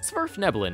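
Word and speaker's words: svirfneblin: to the deep gnomes smurf nebulon is how you pronounce the actual name of these people but i'm going to keep calling them deep gnomes because no word should put an s and a v right next to each other blame the norse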